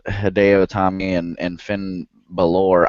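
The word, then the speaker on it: Bálor: Tommy and and Finn Balor I think it's pronounced ballor there's a little accent across the a which makes me believe it's not you know a short vowel sound it's a long vowel sounds I I believe it's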